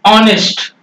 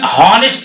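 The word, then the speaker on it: honest: अभी किसी ने कहा यहां पर यह है ऑनेस्ट, ऑनेस्ट है, ऑनेस्ट में क्या लगाएंगे, पहला अक्षर तो एच है लेकिन हम हॉनेस्ट नहीं पढ़ते, हम इसको हॉनेस्ट, हॉनेस्ट नहीं पढ़ते हैं, ठीक ना, इसको हम पढ़ते हैं ऑनेस्ट।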